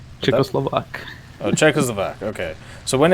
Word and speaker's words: Czechoslovak: So when when it comes to the for the Czechoslovia the how do you say it, Czechoslovakian? Czechoslovak.